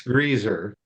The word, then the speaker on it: Greiser: I'd say her own name, but I can't ever tell if it's Greaser or Greiser. So I'm a, what's that? How do you say that, Dr. Cromwell? It's Greaser. Thank you.